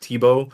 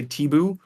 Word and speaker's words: Tibo: it's like I don't a lot of people don't nail the pronunciation and it reminds me of a high school or of a middle school teacher that I had who always used to say teoo and she used to